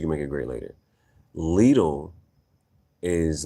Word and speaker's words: Lidl: I didn't know how to pronounce it. It's Lidl.